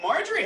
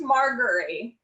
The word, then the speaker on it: Marjorie: thank youh all right Marjorie how's it going good oh and it's pronounced margari Mar so hard G margar yeah or you can